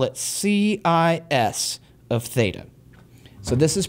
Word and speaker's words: cis: and let's call it C I S of theta. So this is pronounced cis um like a sibling that's a girl and you're it it is not a new trig function.